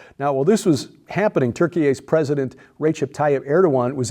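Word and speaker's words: Türkiye: uh over the weekend turkey a the correct pronunciation now according to the Turks said Saturday it's recalling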